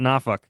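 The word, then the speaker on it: Norfolk: nor nor you know the people in norfol pronounce it nauk naak that's naak that's it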